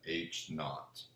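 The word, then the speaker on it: H₀: uh sub o and we pronounce that H naught null hypothesis will always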